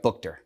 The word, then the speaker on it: Boughter: and I finally got your last name right Booker that's correct yes I keep it's spelled uniquely but uh but something about you